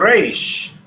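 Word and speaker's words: ריש: You must roll that R when you are pronouncing the resh. Resh. Resh. Resh. Exactly. Usually people who speak Spanish can do it with ease because that's present in the Spanish language.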